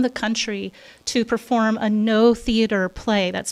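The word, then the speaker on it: Noh: We've actually found 4 Japanese specialists in theater that are coming from around the country to perform a no theater play. That's spelled N-O-H theater, and that's like traditional Japanese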